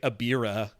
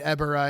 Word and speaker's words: Ebirah: I mean, it's probably, in the same way I typically say Abira. I know you threw me off there. I was saying, and now I'm saying Ebirah, and it feels weird, but it's right. That's like the correct way to say it.